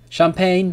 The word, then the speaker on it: champagne: is for G remember G is not pronounced when it comes before an N champagne for ensign design but